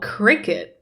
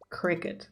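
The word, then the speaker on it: Cricut: yeah make stickers which is amazing and it's pronounced oh Cricket oh okay okay Cricket got it got it oh don't worry CeCe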